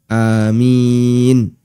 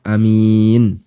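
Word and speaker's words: آمين: ahli qiroah menyebutkan bacaannya dengan memanjangkan Hamzah atau memendekkan Hamzah sehingga bisa dibaca Amin bisa juga dibaca Amin dua-duanya boleh kemudian keterangan yang kedua keterangan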